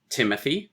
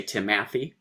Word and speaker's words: Timothy: say trumpet stress unstress we say um Timothy there we go stress unstress stress you don't say timathy um which would be